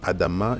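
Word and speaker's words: אדמה: Là, on a lu en haut Adam, mais ici nous lisons Adama, donc on retrouve le Aleph avec le A, on retrouve le Dalet avec le A, on retrouve le Mem avec le A. C'est vrai que le Mem,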